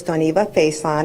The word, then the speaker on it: Doniva Faison: Doniva, can you tell me the correct pronunciation of your name? Good morning. My name is Doniva Faison, and I am the campus director at KCC High School.